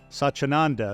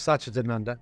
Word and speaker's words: Satchidananda: I know you have a spiritual side yourself with your relationship with Swami Satchidananda. Is that the correct pronunciation? Close, Satchidananda. Satchidananda.